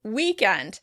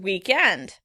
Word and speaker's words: weekend: that really confuses me, weekend. British pronounce it weekend. Weekend, which probably has to do with the roots of the word. Americans pronounce it weekend, weekend, with stress on the first syllable.